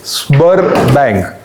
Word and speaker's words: Sberbank: So, I hope I am able to pronounce the correct ये Sberbank. S Spur नहीं है, S और B है.